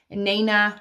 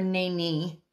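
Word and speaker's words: Nanye'hi: So Nana or Nani is how it's pronounced.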